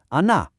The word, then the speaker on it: она: You try ana.